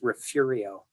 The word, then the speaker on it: Refugio: There is a town near the Gulf Coast called Refugio, literally refuge in Spanish. And if you go there, the locals will refer to it as Refugio. Okay, that's how they pronounce it.